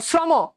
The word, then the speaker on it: শ্রম: দেখছো একই রকম ভাবে খেয়াল করে দেখো শ্রম, তাহলে কি হয়ে যাবে বলতো? দন্তস ওকার, শ্র। দেখো এখানে কেন, খেয়াল করে দেখো এখানে শয়ের সাথে কেন ওকার হয়েছে সেটা পরে জানবো, বাট উচ্চারণে কিন্তু ওকার চলে আসে, শ্রম, ওকার চলে আসে, তাই না?